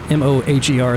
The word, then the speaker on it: Moher: M-O-H-E-R, it's pronounced Moher, which is what these cliffs are also called, and they were named after that tower down there.